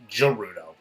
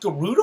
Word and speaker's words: Gerudo: like as a kid i always thought this was like gerudo but then like in breath of the wild they say yes go to the gerudo it's like whoa it's pronounced garuda all these years like